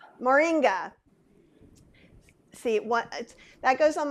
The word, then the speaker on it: moringa: vegans can't have but and you you probably pronounce it is it morgonia moringa see what that goes on my long list